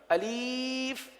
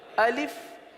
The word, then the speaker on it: الف: الف. اب اس کو الف پڑھنا یا الف پڑھنا یا الیف پڑھنا، یہ غلط ہے.